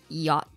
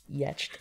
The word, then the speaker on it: yacht: a non-native english speaker seeing the word yacht was incredibly challenging i knew people called it yetched and i don't i